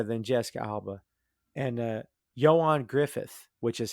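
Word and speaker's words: Ioan Gruffudd: lightyear is better than jessica alba and uh johan griffith which is how his name is pronounced if anyone's wondering joanne griffith is how it's actually so if you're like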